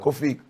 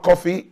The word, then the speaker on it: Kofi: Normally, a lot of people spelling different, but we spell it in our way in the Ghana, so it's KOFI. So not coffee, not the black coffee that I'm drinking.